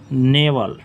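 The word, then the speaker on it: knave: अगला वर्ड हो जाएगा नेवल नेवल शायद के साइलेंट है नेवल दुष्ट रास्कल रोग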